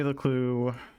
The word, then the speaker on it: LeClue: So Jenny LeClue comes in at number 42. How fitting that it rhymes with her name.